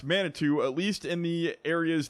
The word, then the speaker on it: Manitou: I was corrected on the name it is pronounced Manitou at least in the areas that farmer Dan and Luke Latham are from they say it is pronounced Manitou Manitou so I will try to remember that